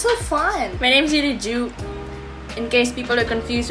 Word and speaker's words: Ju: My name's really Ju. In case people are confused with how it's pronounced, it's Ju, like J-U. Except it's G-A-U.